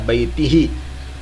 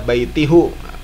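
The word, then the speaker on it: بَيْتِهِ: Jadi dibacanya ila baitihi, bukan ila baitihu. Salah. Kata baitihu salah. Harusnya baitihi.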